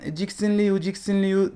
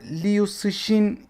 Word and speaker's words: Cixin Liu: Liu şeklinde olduğu için bu yazardan bahsederken ciksin li vixen diye telaffuz etmeye çalıştık ama aslında ciksin kısmı soyadı yani soyadı adı şeklinde yazılmış Yani aşağı yukarı lius işin gibi bir telaffuzu var gerçi ben de büyük